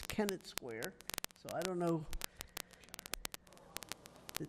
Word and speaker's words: Kennett Square: But this But being, now that they're using the one in Kenner, there's no Kenner Square. It's a Kennett Square.